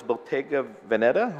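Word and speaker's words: Bottega Veneta: one June 24 2022 and this one is Bottega venetta is that how we pronounce it that's that's oh yes sir yeah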